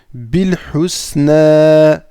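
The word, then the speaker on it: بالحسنى: Donc bil, ici le alif il va venir s'effacer à la prononciation. On va aller directement au lem, bil, d'accord? Bil husna, le husna, le husna,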